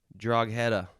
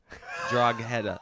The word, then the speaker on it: Drogheda: So try and pronounce the first one. Okay. Drogheda. Drogheda. Let me try a couple different pronunciations. Drogheda. That's the same thing. Drogheda. Drogheda.